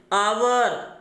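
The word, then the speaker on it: hour: ये सभी वर्ड यानी इनमें जो यच है ये म्यूट होता है, ये साइलेंट होता है। और ये वर्ड हम किस तरह पढ़ते हैं? यहाँ से पढ़ते हैं। फिर हम देखिए honest, आवर, honourable, air, honorary, इसलिए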